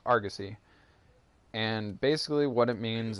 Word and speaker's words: Argosy: a title instead of something else, but it's pronounced Argosy.